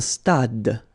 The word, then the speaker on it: stade: Un stade. Same thing here. Final is not pronounced.